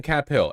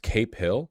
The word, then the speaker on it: Cap Hill: It's pronounced Cape Hill? No, the fuck it isn't. What the fuck are you talking about? Don't say that.